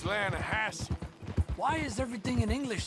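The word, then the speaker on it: Lannahechee: no no no no the the lahache it runs right near here yeah but it's pronounced lassi why is everything in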